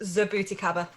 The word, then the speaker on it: jabuticaba: Oh, you mean Jabuticaba? That's it. I'm sure I get cream for that once before. It's actually pronounced Zabuticaba.